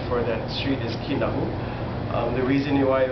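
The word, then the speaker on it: Kinaʻu: k as a common term but the correct pronunciation for that street is kinu um the reason why it was pronounced kinu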